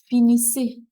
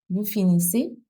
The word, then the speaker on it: finissez: And here, finissez. Finissez S and a sound that sounds like a sound. Finissez a sound. Vous finissez.